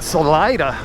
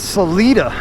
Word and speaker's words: Salida: me straight cuz I hear people call it Salida I was like it doesn't sound right but let's go with it but nope it is Salita big recommendation if you're in this area stop